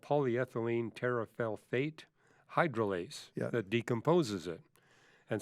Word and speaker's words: polyethylene terephthalate: to take a stab at trying to actually pronounce what that is. It's polyethylene terephthalate. Yeah, polyethylene terephthalate.